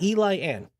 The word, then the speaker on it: Eliane: I keep saying Ellie. It's Eli Ann.